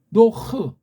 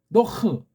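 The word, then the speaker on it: נח: 아는 없어요. 이건 인간들이 기름칠해 놓은 거예요. 이거요. 노아가 어디 있어요? 쓰려면 노도 웃기지만 노흐 이렇게 표시하든가 조금 더 정밀하게는 노흐 쌍이의식은 이렇게 표기해야 맞아요.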